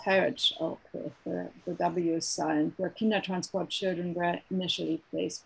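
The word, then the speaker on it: Harwich: woodlands camp at dover court bay near harbridge pronounced heritage okay children were initially placed when they arrived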